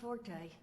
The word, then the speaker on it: forte: I just want you to know, architecture ain't exactly my forte. The word is fort. Huh, not half bad. The only time you pronounce So what I F-O-R-T-E, chicken-scratched together forte,